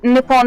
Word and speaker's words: Nippon: racism and not racism nippon is i've just looked this up because i couldn't remember and nip on his formal way of pronouncing the native name of japan so actually he's being